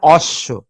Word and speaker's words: অশ্ব: কিন্তু বর উচ্চারণ আছে কিন্তু এখানে বর উচ্চারণ নেই এখানে ব কি কি করে দিচ্ছে তালব্য সকে দীত্ত করে দিচ্ছে আবার যদি আমি এটাকে